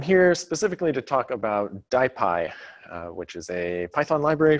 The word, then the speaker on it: DIPY: of a tortured acronym die PI stands for diffusion imaging in Python often mispronounced dippy it is die pi so type I is